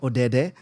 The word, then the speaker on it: Odede: Of course, directed by the phenomenal Jinna Odede.